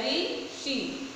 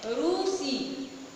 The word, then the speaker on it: ऋषि: इसी तरह री का उच्चारण हिंदी में री जैसा और उड़िया में रू जैसा होता है।